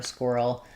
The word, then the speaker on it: squirrel: The qu ui says c-w and then we have the that dark l squirrel.